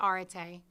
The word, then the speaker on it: arete: there with pronunciation guides, we use a British pronunciation, so we're not pronouncing it the way that some of you may research it. But we say arete, and there's no equivalent word in the English language.